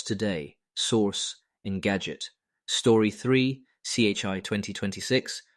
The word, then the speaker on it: CHI: CHI 2026, pronounced Kai, the premier human-computer interaction conference, wraps today in Barcelona.